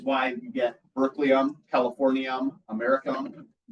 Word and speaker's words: americium: you get berkelium, californium, americium, how do you say it? Americium. But it's spelled like America.